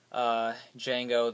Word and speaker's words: Django: That's quite a bit lower than, say, Django, The D is Silent, Unchained from this time last year, which was another, on the darker side, cynical, adult oriented movie.